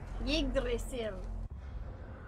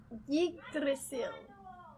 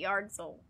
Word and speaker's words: Yggdrasil: I used to call it Yardzil, which is so stupid because there's no yard in it at all.